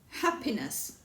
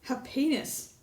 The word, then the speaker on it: happiness: in all three ways the first syllable happiness the second syllable happiness third syllable happiness which one sounds most natural well it's the first one don't say the second one that sounds like another